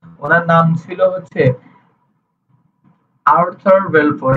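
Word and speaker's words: Balfour: নাম ছিল হচ্ছে আর্থার ভেলফর ইংরেজিতে যার উচ্চারণ এ আর টি টি এইচ ইউ R Arthur ভেলফর বি এল এফ ও ইউ এফ ও ইউ আর ভেলফোর উনার নাম ছিল বেলফোর তো উনার উনি যে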